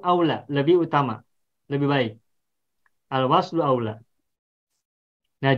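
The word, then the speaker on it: الوصل أولى: Al-waslu aula. Nah, jadi ini bacanya bukan sili. Kalau yang dalam Al-Qur'an ini tanda wakaf ini bukan dibaca sili, tapi al-waslu aula.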